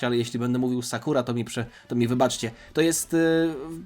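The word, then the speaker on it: サクラ: pory lubię ją, czyli Sakura. Wydaje mi się, że tutaj akcent na pierwszą sylabę powinienem kłaść, ale jeśli będę mówił Sakura, to mi wybaczcie.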